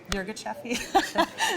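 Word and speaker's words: Yirgacheffe: Well, I think it's Yirgacheffi.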